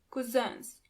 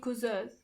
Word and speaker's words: Cousins: Onkel und Tanten, 9 Cousins. Do you hear the pronunciation of the last word? Cousin in plural, you have to add a French pronunciation to it. Cousin.